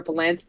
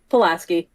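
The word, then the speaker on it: Pulaski: already looked up because he called her palaski and I called her palansky and I was confirming who was correct how to say it palaski okay I I said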